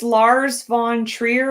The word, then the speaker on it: Lars von Trier: But it's the director's name is Lars von Trier. Am I pronouncing that right?